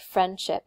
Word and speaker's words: friendship: For example, we looked at the word friendship before, right? Friendship has two syllables. The strong stress is on the friend.